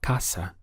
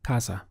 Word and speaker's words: casa: Now, depending on which Spanish-speaking country you're in, you will also hear this pronounced as casa with more of an S sound. However, where I am, it's casa.